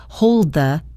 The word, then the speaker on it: hold the: Look at the word hold. To make it flow into the next word, we don't release a hard D sound. It's a stop D. You put your tongue in position for the D, but you move right into pronouncing the. Hold the. Hold the. It's a very smooth transition.